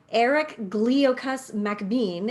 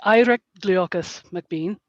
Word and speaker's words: Irek Gliokas Macbean: It's actually Irek Gliokas Macbean, but I know pronunciations are tricky when you write them down and you start off with a Scotsman who travels all over the place.